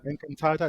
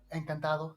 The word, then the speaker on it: encantado: Encantada, is that how you say it? Encantado, sí.